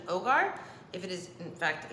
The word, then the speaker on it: hogar: on my Spanish and H is silent in Spanish so this is actually Ogar if it is in